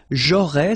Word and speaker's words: aurais: J'aurais, so final S, not pronounced, j'aurais.